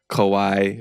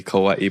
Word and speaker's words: kawaii: that correct pronunciation like Kawai when it should be Kawaii but people are just so used to saying Kawai even my last name